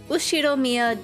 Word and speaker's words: Ushiromiya: His name is written like this, pronounced Ushiromiya George.